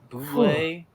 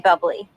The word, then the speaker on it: Bublé: mean bubbly? No, I mean Bublé. You're Michael Bublé. That's a bubbly. She's right, Michael Bublé. It's pronounced Bublé.